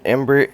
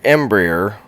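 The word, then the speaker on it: Embraer: our flight plan so we are in an Embry embryer there we go that is actually how it's pronounced so I did screw it up earlier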